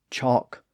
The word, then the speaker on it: chalk: caused the L Sound to be lost in words like talk walk chalk folk yoke half calf behalf Sav calm and Bal now you may be saying wait a minute the L Sound is pronounced in some of those words well it's certainly possible to hear some of those words pronounced with a subtle l sound today and again that